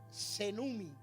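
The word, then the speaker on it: σβέννυμι: Se pronuncia la palabra senumi, y la palabra senumi con doble N significa extinguir, echarle agua a algo hasta que se apague.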